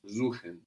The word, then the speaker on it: suchen: So an S vowel syllable gives us a Z sound. Suchen.